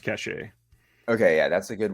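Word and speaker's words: Caché: or C cash a yeah I think it's pronounced cache okay yeah that's a good one and he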